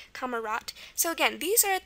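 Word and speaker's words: Kamerad: what kamarat is and it's it's pronounced t at the end so it's spelled with a d kamarat.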